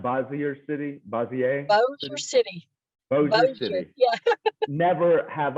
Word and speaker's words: Bossier City: And I've never been to, how do you pronounce Bossier City? Bossier City.